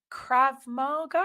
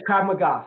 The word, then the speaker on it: Krav Maga: was this second degree black belt in Krav Marga. Am I saying it right? Yes, Krav Maga.